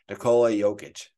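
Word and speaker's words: Nikola Jokić: know I'll pass his last name uh here pronunciation based on basketball reference Nicola jokic okay either way I would not have been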